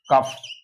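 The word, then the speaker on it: cough: है सीओ य जीी एच इसको क्या पढ़ेंगे कफ तीसरा और आ सकता है सीओ यजी एच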